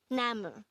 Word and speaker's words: 나무: This is composed of two syllables. The first syllable is na, and the second syllable is mu.